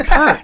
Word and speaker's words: Peart: What, Neil Peart? It's Peart. No. It is. Yeah, Donnie's saying it right, but hearing him say it just sounds annoying. It doesn't. No, it's Peart. Isn't it Peart? No. He's French Canadian. It's Peart.